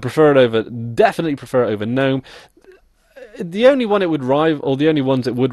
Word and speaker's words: GNOME: my KDE review before I did my gnome gnome I'm just going to call it gnome okay gnome review uh I did my gome review second